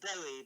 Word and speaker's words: Bowie: It's pronounced Bowie, by the way.